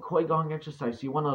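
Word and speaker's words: Qigong: That's called Kui Gong exercise. So you want to look it up. It's called, the way you spell it is a Q-I-G O-N-G, Gong, Kui Gong exercise.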